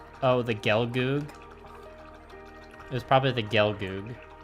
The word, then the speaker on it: Gelgoog: Yeah, Gelgoog. Yeah, I believe the Japanese characters pronounce it like Gerugugu. Master Grade EX Unicorn, yeah, that's one you gotta save up for.